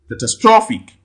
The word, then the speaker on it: catastrophic: at this if you where ends with ic you count two syllables from the right the rule applies here catastrophic catastrophic catastrophic okay you can see